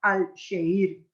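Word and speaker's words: Alaşehir: con el nombre de al seir claro ellos lo pronuncian al sheir verdad y y Entonces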